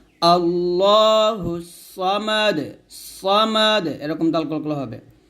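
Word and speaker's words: ٱللَّهُ ٱلصَّمَدُ: মা দাল পেশ দু আল্লাহুস সামাদু আরফ দালটা করতে হবে আল্লাহুস সামাদ সামাদ এরকম দাল কলকলা হবে আল্লাহুস সামাদ হুস সামাদ এরকম আবার বলেন আমার সাথে আল্লাহুস সামাদ আবার আল্লাহ বলবেন না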